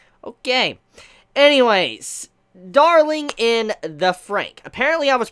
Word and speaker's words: FranXX: way to pronounce it you're supposed to say darling in the Frank so I just want